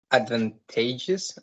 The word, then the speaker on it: advantageous: So number 7 is advantageous, I think, and I count 4 syllables, and the stress is in the third one.